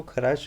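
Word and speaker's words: Kharasch: जो फॉलो करता है, इस इफेक्ट को खराश इफेक्ट भी बोलते हैं, खार्श भी कहते हैं कुछ बुक्स इसको। स्पेलिंग डिफरेंट मिल सकती है, कोई दिक्कत नहीं है, ध्यान रखना है खार्श इफेक्ट है।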